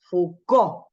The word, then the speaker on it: Foucault: corta pero prolífica vida acuérdense que se dice foucault eh foucault como si la eh la